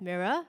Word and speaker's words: MIRL: um everyone Singapore so my company is mirl stands for made in real life pronounced as mirror basically it's the mirror